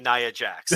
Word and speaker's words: Nia Jax: got this because i studied up it's fka naya jax thank you thank you so much in the